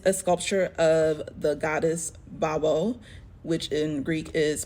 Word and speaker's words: Baubo: so this is a sculpture of the Goddess babo which in Greek is pronounced vabo what does vavo sound like sounds like this